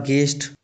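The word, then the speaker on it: guest: उसी प्रकार गेस्ट इसमें भी यू साइलेंट हो जाता है।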